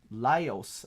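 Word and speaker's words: Laios: and we have one more uh we have lios okay that's how you pronounce it lios toen lios toen you can see him with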